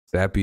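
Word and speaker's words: Zappe: I'm not saying that Bailey Zappi is going to be Tom Brady, but Zappi does rhyme with Brady.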